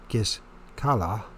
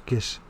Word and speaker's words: Gischala: In the winter of 67, when Titus was at the gates of Gischala, but it's we in English we pronounce it Giscala, but it's Gischala, and offered terms of